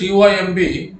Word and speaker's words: comb: In spelling is COMB, but B is silent. You have to pronounce only comb.